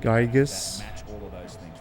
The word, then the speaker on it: Gyges: use Google and It's he the found that it reason was why I pronounced like think, in some Gyges, cases, like Greek, like Gyges, like finding gyro, out like gyros, where like you eat a gyro sandwich.